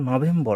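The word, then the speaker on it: November: ইফরল হচ্ছে উচ্চারণ তারপর নভেম্বর তারা কিন্তু আর টাকে উচ্চারণ করে না নভেম্বর নভেম্বর নভেম্বর আর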